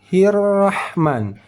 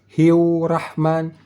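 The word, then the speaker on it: الرَّحْمٰن: huruf ra ber bertasydid saat kita membacanya hirrahman hirrahman dari ha berbaris kasrah langsung masuk ke dalam huruf huruf ra yang bertasdid tidak pakai wau artinya ada pernah kita mendengar orang membacanya bismillahirah hiurah hiu Rah sudah bertambah satu huruf wau mati di sini hiu hiu Rahman hirrahman bisa dimengerti bismillahirrahman bukan hiu tetapi hirrahman ujung lidah langit-langit ujung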